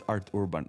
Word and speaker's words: Arthurban: It's, oh shit, it's hard for me to pronounce it. Arthurban, it's Arthurban.